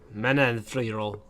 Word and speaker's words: Manon Fiorot: Nah, but I'm going 144 with, how do you pronounce that? Manon Fiorot.